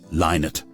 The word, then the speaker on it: Lynott: heard the news on the radio that Phil leinert and that's the correct pronunciation but we all drop into Leonard every so often had passed away of a